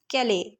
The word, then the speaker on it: Calais: कैले यहाँ पे एक्चुअली उसकी स्पेलिंग क्या है तो CALAIS है, बट इसका प्रोनाउंसिएशन क्या होता है, कैले. ठीक है, IS जो है वो साइलेंट होता है.